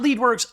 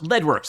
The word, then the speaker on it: Leadwerks: Not Leadwerks, Leadwerks. Apparently, I've been saying it wrong for years.